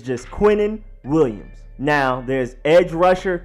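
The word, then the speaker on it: Quinnen: spin to the IPA it's Quinn and then in like the Ning you have from Hunter x Hunter you have to unlock your name and then his last name is Williams that's easy so that's just starting all very light just wanted to make sure people knew exactly what it was that it was Quintin and not queening or kidding because a lot of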